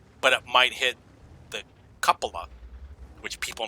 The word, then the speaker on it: cupola: But it might hit the cupola, which people mispronounce cupula. It's pronounced cupula.